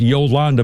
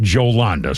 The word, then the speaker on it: Jolanda: Normally that's pronounced Yolanda, but apparently she pronounces it Jolanda.